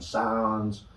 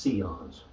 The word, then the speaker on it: Sion: Some people call them Sions, but they're pronounced Sions.